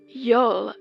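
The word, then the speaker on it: geol: sun's Zenith in June and rebirth in December Yol which is spelled GE e o l is related to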